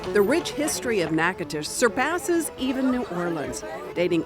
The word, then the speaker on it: Natchitoches: Natchitoches is how I'm going to say it. You'd be wrong. That's right. The rich history of Natchitoches surpasses even New Orleans, dating all the way back to 1714.